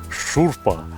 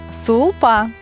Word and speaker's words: сулпа: Сулпу, как странно вы произносите, я привык шурпа. А вы как говорите? Сулпа.